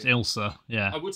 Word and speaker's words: Ailsa: It's pronounced Ilsa.